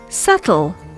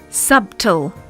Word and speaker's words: subtle: transparent not transparent we might add a sound that's not supposed to be there such as in the case of subtle not subtool we might pronounce a word